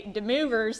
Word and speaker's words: De Moivre: uh de theorem de I believe this is French and it's pronounced de wavs theorem but if you